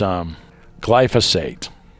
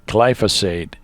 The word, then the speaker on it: glyphosate: that much, but it's glyphosate. I was pronouncing glyphosate as glyphosate. Probably because it's in tiny print down there, and forever I was like, oh, it's glyphosate. It's glyphosate. It's pronounced glyphosate.